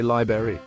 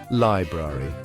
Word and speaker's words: library: Well, tell that to the folks who say library.